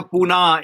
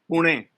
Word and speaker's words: Pune: And it's no longer Pune, it's Pune. No. Yeah. We are teaching the English how to pronounce the word correctly.